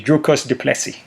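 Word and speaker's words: Dricus du Plessis: um joe rogan that hey my name is drucus du plessy so he actually let people know how to pronounce his name um yeah trevor guys was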